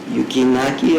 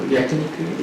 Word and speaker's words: yakiniku: We've tried yukinaki, if I pronounce it right. Yukiniki. Yakiniku?